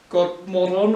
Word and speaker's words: Godmorgon: now well aware that it's actually Swedish, meaning good morning, and it's pronounced like something like Godmorgon or something, but it's Godmorgon for us.